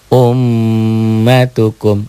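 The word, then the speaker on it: أُمَّتُكُمْ: tuh nah Om umukum tuh dibacanya m-nya jadi dobel tig ummatukum dobel ditahan dan dengung umatukum bedakan dengan yang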